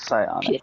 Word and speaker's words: psionic: Is it like Scion, like Scion, or Scion, like psionic? No, PS, like, Okay, so like psionic. Alright. yeah. So I was thinking, Cyanotrad. You can hear a silent P in your mind whenever you say the name.